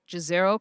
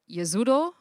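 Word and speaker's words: Jezero: also heard this called gizero crater um but yazuro is how it is supposed to be pronounced it's actually named after a town in bosnia so that is a bosnian word so as we look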